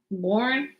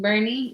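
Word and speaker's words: Boerne: I don't think it's Born because I've seen her like put up um like the proper way of saying it. And she's all morning she was posting stories of the ice and I'm like, it's pronounced Bernie.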